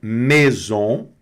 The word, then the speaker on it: maison: Maison. E aqui o A mais I tem o som de E, né? Então é maison, né?